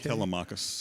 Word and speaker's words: Telemachus: So the story you tell about Vesey, would you pronounce Telemach or Telemach? Telemachus.